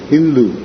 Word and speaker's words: Hindu: of india the muhammadans they used to call the inhabitants of the neighborhood of that river hindu because they pronounced s as h this is the origin